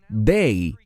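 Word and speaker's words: δεῖ: Se pronuncia dei en griego y se refiere a algo que tiene que ocurrir.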